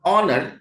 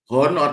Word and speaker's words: honor: is pronounce As In Honor ini ini bacanya bukan honor tapi honor honor it is presed by